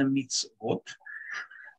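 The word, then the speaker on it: מצוות: Буква «цади» имеет огласовку «шва» внизу. Поэтому у нее не может быть огласовка «хулам», то есть «вав» с точкой наверху. Поэтому «вав» – это не что иное, как буква, которая читается «в», которая имеет огласовку, просто отдельная точка, стоящая наверху.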